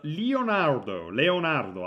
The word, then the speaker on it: Leonardo: Number 7, it's Leonardo actually, because that's the Italian pronunciation.